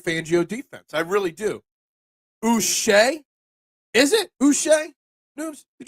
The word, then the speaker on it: Uche: I'm just going to say, don't call me Uche, because, why not? I'm feeling Uche today. So it's pronounced Uche.